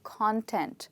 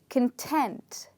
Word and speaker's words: content: talk about the meaning when you call this as content that is a noun which means what is something made up of okay like the chapters in a book are called the content so you would say what is the content of this book which means which are the chapters of this book or else you can pronounce this word as content okay now when you